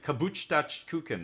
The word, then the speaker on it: Geburtstagskuchen: Geburtstagskuchen, that's how you say it.